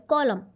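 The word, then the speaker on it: column: silent in the word कॉलम तो इसमें कौन सा है एन साइलेंट है है ठीक है क्यों क्योंकि हम तो पढ़ते कॉलम है लिखा कॉलम जाता है ठीक है च्च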